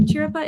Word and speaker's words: Chiripa: Chiripa? Is that how we pronounce it?